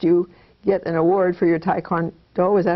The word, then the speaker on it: Taekwondo: because I watched you get award for your taek kond do is that how you say it yeah Taekwondo right and I know that you're interested in